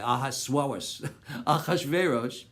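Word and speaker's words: אחשורוש: It came to pass in the days of, don't pronounce it that way, Achashverosh.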